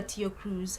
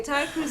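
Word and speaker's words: Tyla: stroke entertainment news um we have pop star tia cruz has oh it's actually tile uh is a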